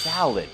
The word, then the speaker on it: salad: ครับ tuna Corn salad อ่า คำ ว่า สลัด นะ ฮะ เวลา ฝรั่ง พูด ครับ เข ออก เสียง ว่า salad ไม่ ได้ ออก เสียง ว่า สลัด นะ ฮะ is tuna